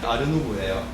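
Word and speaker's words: art nouveau: 이게 인상주의 바로 후기에 일어났던 사조인데, 여기 보면 뭐 아트, 누에보 뭐 이런 식으로 적혀 있는데, 이게 왜 아르누보라 하려면 프랑스 발음으로 하면은 아르누보예요.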